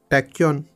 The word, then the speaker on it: tachyon: How should I pronounce this? Tachyon.